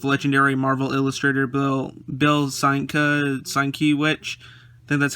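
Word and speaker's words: Sienkiewicz: and influences with legendary marvel illustrator bill bill seinka sign that's how you say it meet the new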